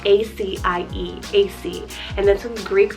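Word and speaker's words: Acie: Keeping on this 4-letter train, I have AC, spelled A-C-I-E, AC.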